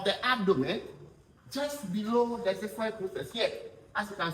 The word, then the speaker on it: xiphoid: Let's say xiphoid process. Xiphoid process. It is spelled X for xylophone I P H O I D.